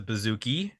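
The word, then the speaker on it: bouzouki: he o plays the bazooki which is not a bazooka it's a bazooki it's a stringed instrument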